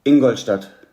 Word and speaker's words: Ingolstadt: But in terms of my expectations, how do you pronounce the city, first of all? Nuremberg. No, your city where Ingolstadt.